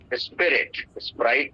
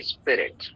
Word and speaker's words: spirit: स्प्राइट नहीं, स्पिरिट यानी आत्मा को.